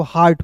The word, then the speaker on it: हार्ट: बाद आर आएगा तो इ ए का उच्चारण आ के रूप में होगा तो हार्ट हो जाएगा।